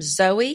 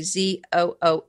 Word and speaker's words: Zooey: Now, I would call them Zoe kitchen knives, but it's actually Zooey, which seems like Zooey is the way I would pronounce that.